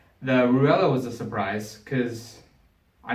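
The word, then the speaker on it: Raella: So number one song was, I'm gonna butcher it, but it's spelled R-A-E-L-L-A, but it's Ruella, as Pac pronounces it.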